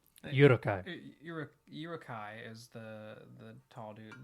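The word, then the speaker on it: Uruk-hai: How do you pronounce it? Urukai. Urukai.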